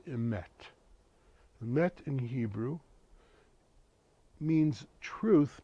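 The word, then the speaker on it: אמת: The word truth in Hebrew is spelled Aleph, Mem, Tav. The word is emet.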